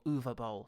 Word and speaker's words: Uwe Boll: Or Uwe Boll, sorry, I should use the correct pronunciation that we've subsequently learned.